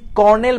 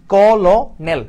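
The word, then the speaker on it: colonel: এই যে কর্নেল বানানটা কিন্তু আমার কি? কলনেল। আমরা যদি ভেঙ্গে ভেঙ্গে উচ্চারণ করি তাহলে কি আসতেছে? কল নেল আসতেছে। কিন্তু এইটা হচ্ছে কর্নেল বানানটা।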